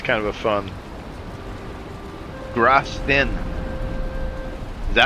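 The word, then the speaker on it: Grausten: How do you pronounce that? Grastin.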